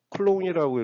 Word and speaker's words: 쿨롱: 이것은 쿨롱이라고 읽어야지 C라고 읽으면 안 됩니다. 단위는 꼭 쿨롱으로 읽어주시기 바랍니다.